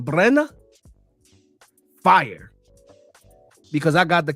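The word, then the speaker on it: Brener: I have to say it like a Brazil. Brena, fire, because I got the KO that I needed.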